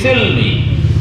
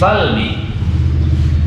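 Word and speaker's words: السلم: Ya ayyuhalladzina amanu khulu fis silmi atau fis salmi. Wahai orang-orang yang beriman, udkhulu, masuklah kalian fisilmi, ke dalam agama Islam. Dibacanya bi fathi sin wa kasriha, difathahkan sinnya atau dikasrohkan fisalmi atau fisilmi.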